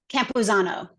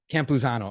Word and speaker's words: Campuzano: so a d and then how do you pronounce your last name Campuzano Campuzano okay you gotta like those two names together